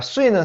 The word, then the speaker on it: 岁: 자, 수이는 사성입니다. 이제 가끔씩 제가 현장에서 강의하다 보면은 수이라고 하는 학생들이 많아요. 자, 이거는 수이. 여러분은 어떻게 발음을 하고 있는지 여러분 잘 한번 체크해 보세요.